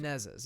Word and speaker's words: Menezes: Unfortunately, the Brazilian voice actor for Toph, Ana Lucia Menezes, is that how you pronounce it? Menezes, yes.